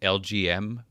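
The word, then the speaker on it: Elgyem: He's spelled weird, but if you sound it out phonetically, it's pronounced LGM for Little Green Men.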